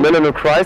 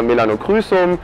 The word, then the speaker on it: Melanochrysum: Melanochrysum, ich habe ja. Schon mal in einem Video Melanochrysum gesagt und danach hin habe ich Hate-Kommentare gekriegt. Ja, weil das ist die englische Aussprache, ja.